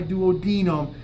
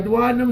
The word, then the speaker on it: duodenum: My duodenum is only about this long, from my thumb to my pointer finger. It's this right here. This is the duodenum, or duodenum. The correct Latin pronunciation is duodenum.